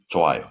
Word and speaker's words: 좋아요: And in here, the 흐 is not pronounced. So just 좋아요.